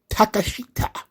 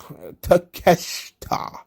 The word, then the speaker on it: Takeshita: is wrestling kononos konosuke takashita or takeshita takeshita the eye is silent okay so of course